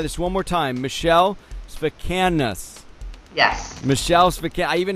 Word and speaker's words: Sfakianos: How you pronounce it? Sfakianos. Michele Sfakianos.